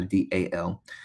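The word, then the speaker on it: دال: an acute angle, and we pronounce it as dal, dal, like the letter D, A, B, C, D, the same way.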